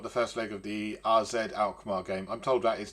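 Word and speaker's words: AZ Alkmaar: about we've got the first leg of the rzed alar game I'm told that is the correct way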